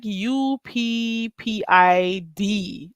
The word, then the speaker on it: uppity: You say uppity. It's like saying up. It's like UPPID, uppity. You say D for T, but it's different because